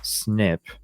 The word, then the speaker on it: SNP: called single nucleotide polymorphisms SNP pronounced snip the direct to Consumer